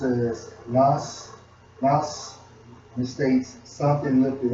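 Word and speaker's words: נס: The banner is Strong's H52 to 51, and it's pronounced as Nas, and it states something lifted up, signal pole, ensign, standard, signal.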